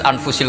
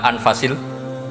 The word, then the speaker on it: anfas: Di sini ditulis anfusil kutub, kalau saya baca anfasil kutub karena maknanya kitab terbaik. Kalau kitab terbaik bacanya bukan anfus tapi apa? Anfas.